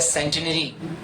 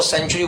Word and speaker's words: centenary: CENTENARY, CENTENARY, इसका right pronunciation होता है सेंटिनरी। हम इसको सेंचुरी बोलते हैं।